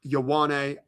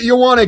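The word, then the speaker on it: Ioane: I O ne pronounced Yawwan. The Ravens need a guard. He's the safest pick in the draft. What are they going to do? Let's find out. Yep. It is. Yana.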